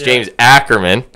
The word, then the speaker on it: Ackerman: And I said his name wrong last week, so we'll fucking get it right this week. I said, what did I say? James Ackerman. It's James Ackerman.